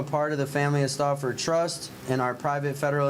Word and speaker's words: Stauffer: That's how they pronounce it. Stauffer.